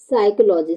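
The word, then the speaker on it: psychology: क्या बनना है साइकोलॉजी तो यहां पे पी का साउंड क्या हो रहा है साइलेंट प यहां का पी का उच्चारण तो हो ही नहीं रहा है तो पी जो है वो यहां पे क्या हो जाएगा साइलेंट बर्ड हो जाएगा ठीक है बच्चों चलिए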